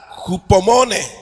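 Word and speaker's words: ὑπομονή: Jupomone. Eso es la Así se lee o así se escribe y así se lee en cuanto al griego.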